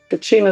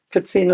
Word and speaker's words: Katsina: Kacina is English. Katsina is how you say it in Hopi.